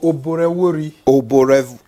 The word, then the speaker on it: Oborevwori: O-B-O, Oborevwori. The VW is pronounced, you know.